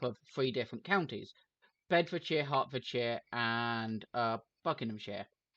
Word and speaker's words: Hertfordshire: three different counties: Bedfordshire, Hertfordshire, and Buckinghamshire. Every American I've seen do a YouTube video talking about like something that's happened in Hertfordshire has pronounced it Herefordshire.